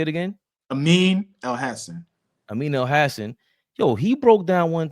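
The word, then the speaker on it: Amin Elhassan: He was on Amin El Hassan. That's how you say it. How you say it again? Amin El Hassan. Amin El Hassan.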